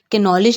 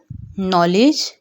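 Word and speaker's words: knowledge: हम कैनो नहीं कहेंगे, कैनॉलेज नहीं कहेंगे, किनी नहीं कहेंगे, हम बल्कि नाउ, नॉलेज, नी, नॉट, नेव, इसी तरह हम इसकी प्रोनाउंसिएशन करेंगे क्योंकि के यहाँ पर साइलेंट है।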